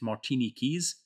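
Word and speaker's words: Martiniquaise: how to pronounce that I think it's Martini Keys Martini Keys uh um which but apparently just means from Martinique um probably should have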